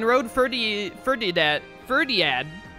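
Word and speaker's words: Fhirdiad: ferdi for did that ferdiad ferdiad that's how you say it i think ferdiad is the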